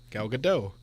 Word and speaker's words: Gal Gadot: her name man good oh no it's the tea's silent Matt it's Israeli I know the tea's silent gal gadot Matt I'm telling you it's not silent the t-shirt right armie